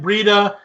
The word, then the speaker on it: Breida: I think I would go Chubb and Breida too. That's exactly the right way to say it.